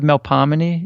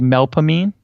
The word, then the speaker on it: Melpomene: almost all of the names so instead of melp hominy it would be melpomene for instance mm-hmm so we aren't real good with proper pronunciation here I see that's we say we're